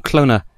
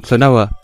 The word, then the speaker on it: Klonoa: to pronounce it because my childhood is saying cloner and the game is saying cloa but childhood but anyway